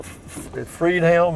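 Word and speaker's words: Friedhelm: bavarian inn restaurant and bar straight ahead there freed hounds or freed helm is how that's how it's pronounced freed hounds bavarian inn authentic german food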